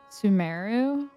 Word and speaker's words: Sumeru: I keep wanting to say like some people, I think it's supposed to be pronounced maybe Sumeru, but I keep wanting to say Sumeru because it sounds like Subaru.